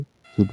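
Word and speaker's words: should: 'L' 'D' से पहले आता है, इसलिए यहाँ 'L' साइलेंट रहेगा; इसे 'शुड' पढ़ा जाएगा।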